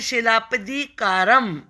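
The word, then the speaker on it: சிலப்பதிகாரம்: A poet named Elango, ये Elango word है, road the Tamil epic, इसे पढ़ेंगे शिलापदिकारम। आप इसे शिलप्पा पढ़िए पहले, शिलप्पा, और ये दिकारम, तो शिलप्पादिकारम।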